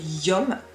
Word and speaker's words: Yum: Qui s'écrit comme ça et se prononce YOM comme potassium, magnésium, calcium.